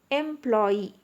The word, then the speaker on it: employee: Let us divide the word employee into syllables. Employee. Okay. So employee. it consists of 3 syllables and the stress is on the last syllable, that is Y-E-E.